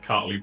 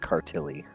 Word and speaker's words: Cartley: Cartley, not Cartilly.